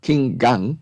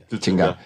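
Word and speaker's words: Qin Gang: King Gang, is that pronounced? No. King Gang. Chingang? It's Ching. Chingang.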